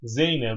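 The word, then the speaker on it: زينب: Zeynep bu diye okuyacağız bunu. Zeynep bun olmaz. Niye? Gayrimustarif. Niye gayrimustarif? Bir, bu kelime nedir? Alemdir, öyle değil mi? Özel isim yani. İki, bir müennes kelimedir. Zeynep bu, Zeynep şöyle diyor.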